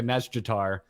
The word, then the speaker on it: Nazjatar: ladies say it, and they do pronounce the J, but extremely quickly and more quickly than I can make my mouth work. Yeah. So they do say like a Nazjatar, yeah, but I can't do that.